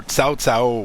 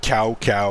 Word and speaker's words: Cao Cao: The only thing that I thought was weird, and I remember like the old game where Cao Cao was said cow cow or something like that, and there's always progresses